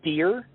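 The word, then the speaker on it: Dheere: His name is Tom Deere, D-H-E-E-R-E. In his words, the H is silent, but I am not.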